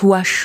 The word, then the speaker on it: Vuache: Vuache, qui se prononce Ouache en patois, vous connaissez?